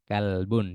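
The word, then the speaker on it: كلب: kalbun kalbun itu anjing jangan sampai ketukar denganbun ya kalauolbun itu hati kalau kalbun itu anjing jadi bacanya kalbun janganbun kalau pakai Q itu hati kalau pakai Kaf itu anjing na gambar kucingun Hun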